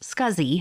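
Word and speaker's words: SCSI: least four SATA ports small computer system interface pronounced scuzzy hard drives join the storage Market in 1986.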